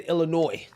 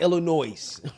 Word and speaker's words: Illinois: I said Illinois, not Illinois, right?